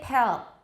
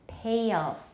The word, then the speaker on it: pale: So once more, heed, heel, paid, pale, and don't say pale. A lot of Taiwanese pronounce this pale or pal. It's pale.